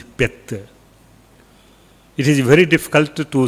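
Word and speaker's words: เพชร: Vajra, but pronunciation is Pet.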